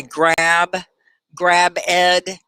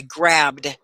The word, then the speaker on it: grabbed: I grab ed. No, I grabbed. It's one syllable.